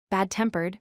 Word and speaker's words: bad-tempered: In this pattern, we stress the second word. Examples include well-known, meaning famous; well-educated, meaning having good education; bad-tempered, meaning getting angry easily; and self-confident, meaning believing in yourself. Here, the stress falls on the participle or adjective that comes second.